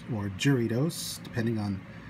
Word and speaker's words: Jarritos: but three different flavors of the mexican soda jaritos or jury dose depending on how you want to pronounce it originally we were supposed to get